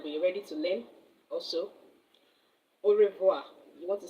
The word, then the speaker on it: au revoir: Au revoir. You want to say goodbye in French, au revoir.